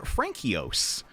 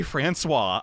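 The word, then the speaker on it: François: Some of you may remember Frankios. That's not how you say Francois.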